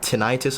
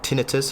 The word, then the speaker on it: tinnitus: face I've I've had like tinnitus or tinnitus however you want to pronounce it which is basically a